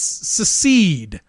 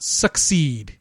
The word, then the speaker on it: secede: The Commonwealth is a marketplace, and it's secede from Great Britain, not succeed. You fuck. I get it. There's an S and a D in there. There's a C that gets pronounced like an S, and there's a couple of E's. It's all very confusing. It's all really over your head, frankly, and you should